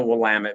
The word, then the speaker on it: Willamette: So I couldn't go by that, so it's called Will Valley because I've grown up in the Willamette Valley and I didn't want to hear people mispronounce it.